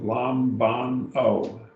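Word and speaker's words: λαμβάνω: It's got 3 syllables, lambano, lambano.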